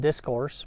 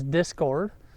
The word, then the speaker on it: Discord: Um I was pronouncing it wrong in my last video. I said discourse, but uh it's Discord.